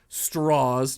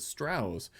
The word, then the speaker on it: Strauss: and that's what Lewis straws tried to do as well that's why he would pronounce it straws instead of Strauss as well and it's